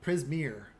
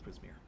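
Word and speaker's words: Prismeer: existence that she would be familiar with uh prismir um it's one of the uh the names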